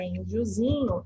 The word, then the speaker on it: indiozinho: E a sílaba tônica, índiozinho, é o zi.